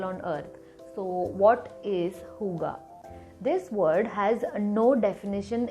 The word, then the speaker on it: Hygge: It is pronounced as Hygge. I thought it was Hygge or Hygge, but yes, it is Hygge.